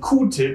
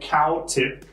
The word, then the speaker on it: Q-tip: And Q-tip is just how we Germans say it. It's not cow-tip, because Q also means cow, but also the letter Q is spelled Q, or pronounced Q in German. So we say Q-tip.